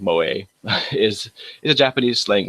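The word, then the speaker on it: 萌え: if not just listen um moay which is pronounced moay is is a Japanese slang word um it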